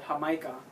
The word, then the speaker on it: jamaica: uh this what what her micah is is a hibiscus teeth is what it's called appropriately in english but in spanish it's called hamaika or in latin america it's called jamaica in espanol okay hey if anybody